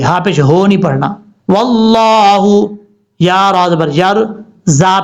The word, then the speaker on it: واللہ: واللہ، لفظ اللہ سے پہلے زبر ہے اس لیے اس کو اوپر پڑھا جا رہا ہے.